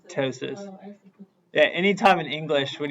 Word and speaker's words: ptosis: of a t wait so the p is silent so you just say tosis yeah anytime in English